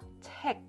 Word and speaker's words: 책: So you have to block the air. 책. And then can you try this? This is also 책.